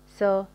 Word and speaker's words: saw: كليات يلفظون لحد اليوم تلفظ الفعل هذا سو لحد اليوم بنات وخرجات يلفظوا ساو فرجاء الانتباه هو مو ساو ماكو باللغة الإنجليزية ساو سو أوكي سي يرى سو رأى